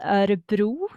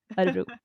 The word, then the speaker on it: Örebro: Yeah, so it's pronounced Örebro in Swedish.